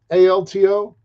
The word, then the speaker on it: Avealto: AVEALTO. AVEALTO. Ave-alto. That's what Skybird in Spanish.